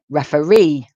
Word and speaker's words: referee: Referee. Referee. Notice the stress is on the third word there.